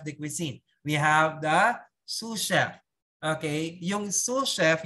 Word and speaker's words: sous chef: We have the sous chef. Okay? Yung sous chef, yung na-spell niya po S-U-S, S-O-U-S, is sauce, pero yung pronounce is sous chef. Sous chef.